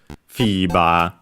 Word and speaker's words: フィーバー: And yes, it's accented on the Fi. FIBA.